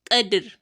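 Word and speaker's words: قدر: Not qadr, but qadr, because qaf is a thick letter, you would have to thicken it whilst pronouncing it, and that is why you say qa, then dir. We are not saying qadri because we are stopping there. That is why we say qadr.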